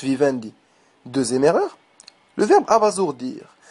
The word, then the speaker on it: abasourdir: deè erreur le verbe abasourdir un S entre deux voyelles se prononce Z le mot abasourdir ne